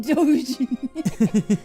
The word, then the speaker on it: Dogen: Call him Dogen. Because of Doge.